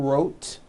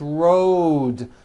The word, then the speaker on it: road: voiced d ending Road it's not rote unvoiced it's Road the whole word is voiced let's go over these